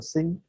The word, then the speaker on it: xin: this is the same it's pronounced as xin is for sing okay so remember this